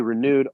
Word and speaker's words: Renude: And renude is spelled Renude. So it's nude like naked.